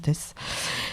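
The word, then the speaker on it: Theys: vous parler de Nino test donc ça s'écrit Nino Nino et Tess ça s'écrit T H e y s non mais ça se prononce test c'est un du coup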